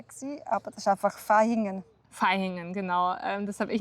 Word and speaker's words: Vaihingen: Ich habe also früher mal gedacht, es wird Vaihingen ausgesprochen, weil man ja zum Beispiel auch Vase sagt oder Vera sagt. Aber genau, bei der Stadt wird auf jeden Fall wie ein F ausgesprochen.